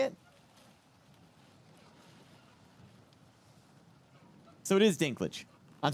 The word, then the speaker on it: Dinklage: how do you say it so it is Dinklage I'm saying it correct okay all right this